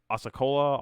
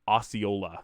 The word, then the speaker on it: Osceola: in USL League One Osceola is the pronunciation thanks black I appreciate that